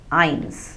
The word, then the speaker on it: eins: Starting from 0, 0 we say null, 1 we say eins. Now we learned in the previous lessons that S has the sound of Z. But whenever the letter S occurs at the end of a German word,